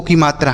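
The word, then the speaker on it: come: लेकिन इसको को नहीं पढ़ेंगे। कम पढ़ेंगे। समझ में आ रहा है बच्चों?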